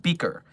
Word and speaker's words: BKR: I've caught word of a new GOI dubbed under the name Black Key Research or BKR, pronounced Beaker.